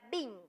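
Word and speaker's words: בין: Y el primero es lo que significa discernir en la raíz hebrea que se pronuncia bin.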